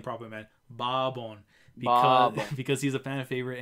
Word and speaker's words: Bourbon: Barbon.